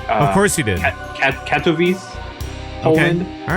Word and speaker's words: Katowice: I was told I pronounced it wrong last time. It's of course you did. Katowice, Poland.